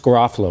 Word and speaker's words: Garofalo: Is he saying it wrong, Mike? Is it Garofalo? It's Garofalo. Is that what you're right? Right? I wanted to say Garofalo. I know you did. Or go Gar. And you're going to say, David, you're saying your last name wrong.